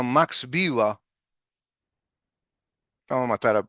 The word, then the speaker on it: Max Weber: Max B le dicen los que anglofilan las cosas, ¿no? Desde lo anglófilo sería Max Baber, pero no es alemán, sería Max Viva.